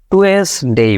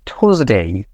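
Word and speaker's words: Tuesday: এসে পড়তেছে এরপরে যেটা এইটা আমরা টুয়েস ডেই বলি তো টুয়েস ডেই না এইটা হচ্ছে টুসডে টু টুসডে কিভাবে হচ্ছে টুসডে খেয়াল করুন এখানে যে বিষয়টা আপনার হচ্ছে এখানে ঠ এটা তো বুঝাই গেছেন এরপরে দেখুন এই যে উন্নটা পড়তেছে কিন্তু উম টান আছে একটা তারপরে হচ্ছে জেড তাহলে কেমন হলো ঠুস ঠুস ঠুস টুসডে টুসডে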